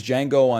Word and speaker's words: Django: confused the D is silent this is this is Django Unchained this is um